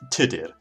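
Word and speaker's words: Tudur: risk tutor quick now here the proper Welsh pronunciation of tutor is today but for the sake of convenience I will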